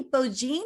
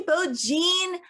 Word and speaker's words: Beaujean: and so i'm so delighted to welcome beaujean is that the correct pronunciation that absolutely works beaujean how in the world are you today i